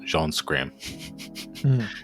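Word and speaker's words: Jean Schramme: And I had to look up how you pronounce it. It's like literally just Jean Scram.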